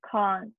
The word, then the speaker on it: can't: my favorite one khan it's a long vowel sound ah the khan americans say with a short vowel sound british can't and it's much clearer when you're speaking if you mean the positive or negative when you use the british r long vowel sound can't and here issue issue